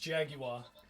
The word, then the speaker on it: jaguar: also this is a jaguar apparently it's pronounced jaguar let's put on some mick jagger i was doing it the british way so was i well